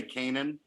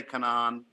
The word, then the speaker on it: Canaan: or pronounced let me heard me am i pronouncing it right we say canaan penis some people say come on you know our feelings aren't hurt however tell